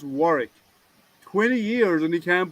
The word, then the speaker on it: Warwick: you know castle dear it's actually pronounced as warwick you don't pronounce w so um how long